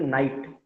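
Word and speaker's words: knight: It's a night, KNIGST, in which K is silent, Yeah, perfect, Gaurav.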